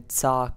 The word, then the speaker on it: TzHaar: Hey guys, this is again, and this is going to be my Slayer guide to killing the Tzhaar creatures. That's how you pronounce it.